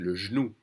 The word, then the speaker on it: genou: Again, when the French speak a little fast, they're going to drop that E and pronounce it le genou.